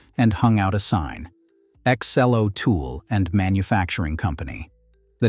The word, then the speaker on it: Ex-Cell: hung out a sign, Ex-Cell-O Tool and Manufacturing Company. The name was a joke and a promise at the same time. Ex-Cell. Say it out loud and it sounds like a boast.